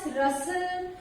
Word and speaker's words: rustle: Words are given where T is silent. In words के pronunciation में T silent रहता है. So the words are like castle, depot, listen, often, fasten, bristle, kitchen, Christmas, rustle.